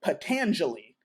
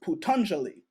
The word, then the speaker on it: Patanjali: in Sanskrit so uh the long a sound on Sanskrit is actually pronounced like a u so that is like with the book I was showing you uh potentially it's spelled like patanjali but it is putanjali